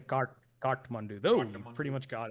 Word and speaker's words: Kathmandu: And Kathmandu is the capital, and that's how you say it in Nepali. Is Kathmandu. It's hard to say. I know a lot of English people say Kathmandu, which is fine, but I say Kathmandu.